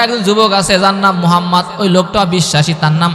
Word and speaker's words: মুহাম্মদ: মুহাম্মদ মুস্তাফা আল্লাহর ভালোবাসায়, মুহাম্মদ এমন একটা নাম, এত সুন্দর একটা নাম যে মুহাম্মদ নামটা উচ্চারণ করলে ঠোঁটে দুইবার চুমু খাওয়া হয়।